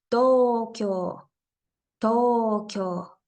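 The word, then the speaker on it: 東京: palabra sería Tokio to ambas sílabas tienen una o y una u por eso estoy haciendo alargamiento en las dos partes Tokio Tokio ahora hablando del sonido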